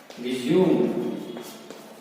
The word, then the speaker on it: resume: आपको एक और एग्जाम्पल देते हैं, RESUME, रिज्यूम, रेज्यूमे। देखिए अगेन एक ही स्पेलिंग है और बात हुई है दो प्रोनाउंसिएशन की, रिज्यूम और रेज्यूमे, अर्थ भी अलग अलग है।